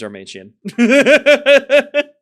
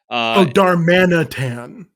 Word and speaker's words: Darmanitan: It's Darmanian. Darmantian? What the fuck is that? The second evolution of Darumaka. Darmanitan.